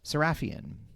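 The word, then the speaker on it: Sarafian: Now, Living Doll was written by Jerry Soul and directed by Richard C. Sarafhian. Saraphian.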